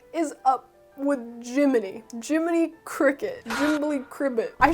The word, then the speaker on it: Gemini: So Jiminy is obviously pronounced the same as the cricket from the Disney cartoon, but it's spelled differently, possibly for legal reasons, except it's not that.